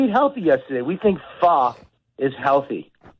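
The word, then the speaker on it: pho: Fo is what people you can call it fo, but it's really called fa.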